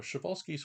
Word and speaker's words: Przewalski: Also, Shabbolski's horse is the proper pronunciation.